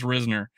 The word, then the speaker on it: Risner: And I'm saying Risner because if you go look it up on how to pronounce it, it says Risner. And okay, it's Risner.